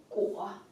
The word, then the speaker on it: 裹: 一个果，它的读音呢是歌乌窝果，就是用